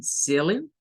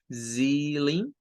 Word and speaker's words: ceiling: El ceiling, ceiling. El primero es, vean cómo esa C se pronuncia como una S, Z, Z, y luego lin, ceiling, ceiling.